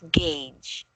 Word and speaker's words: gauge: say it as gauge gauge right yeah there's no R it's just gauge like this you can you can